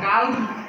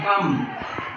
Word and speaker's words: calm: CALM কি বলবো? কাল না কাম, শান্ত, কাম বলবো।